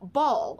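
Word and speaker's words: Baal: his very first published book ball and that's spelled b-a-a-l i actually read that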